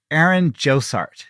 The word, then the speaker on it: Aaron Jossart: But I'm here with someone named Aaron Josart. Did I pronounce everything correctly? That is totally correct. Well done, Philly. Thank you. I saw the name Josart, but that was the first time I've said